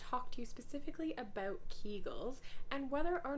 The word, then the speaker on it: Kegel: stress very near incontinence are told to do more keegels or kegels as they're actually supposed to be pronounced and the truth is